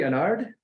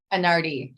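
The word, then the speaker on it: Anarde: Catherine Anard, and am I saying it correctly? Anard? Anardi. Thanks for asking. Anardi.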